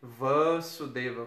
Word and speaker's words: Vasudeva: Aí Krishna, ele é chamado de Vasudeva, com o A longo, né? Aquele acentozinho longo assim, né? Que parece um tio, mas é reto em cima do A. Ele dobra a duração de tempo da sílaba, né?